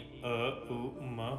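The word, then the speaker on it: ॐ: आपके पास सुरक्षित रहे ओ का उच्चारण ओम नहीं अ उ म होता है अकार मकार उकार नरसिंहा नमः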